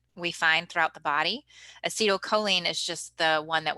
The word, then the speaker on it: acetylcholine: Now, I pronounce it acetylcholine. Some people pronounce it acetylcholine. I say acetylcholine. That's just how I learned it.